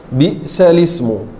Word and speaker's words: بئس الاسم: Bagaimana cara membacanya? Bi'salismul fusuq.